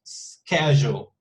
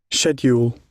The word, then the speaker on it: schedule: So yeah, one possible pronunciation is the one that Felipe used, schedule, schedule. But the British pronunciation is super different. Look at this. Schedule.